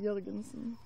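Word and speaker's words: Jørgensen: But we say, you know, always in the, like, this last letter of our alphabet. It's like the O with the slash over it. That's how you say it. It's Jorgensen.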